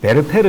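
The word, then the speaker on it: Werther: 그렇게 그들 은 " 베르테르 " 를 발음 하지 못 해서 " 베르테르 - 루 " 라고 불렀고 , 우리 는 그것 을 받아들였으니 " 베르테르 " 라고 발음 해야 하며 , 그 발음 은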